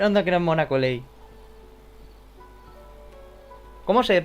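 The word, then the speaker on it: Collei: Anda que no es mona, Coley. ¿Cómo se pronuncia? A ver. Yo creo que es Coley. I'm a trainee for... Coley.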